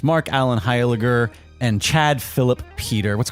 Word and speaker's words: Heiliger: I get a lot of Highlanders and Heiligers.